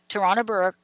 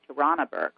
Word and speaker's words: Tarana Burke: Activist and writer Tarana Burke said, it's time to focus on the systems that allow sexual violence to flourish.